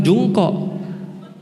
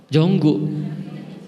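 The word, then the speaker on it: Jungkook: contoh jungko BTS itu kan tulisannya jungkok Bacanya apa bukan jungkok jonggu pusing kan Makanya itu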